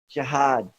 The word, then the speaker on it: jihad: word is anyone here jihad that's how you say it in Arabic and that's another study